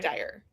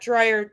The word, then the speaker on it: Dyer: It's Dyer, not dryer, you know? It's not like a dryer in your house.